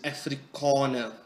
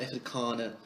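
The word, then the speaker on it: Afrikaner: By the way, it is Africana people, not Africana. If you want to pronounce it, pronounce it correctly.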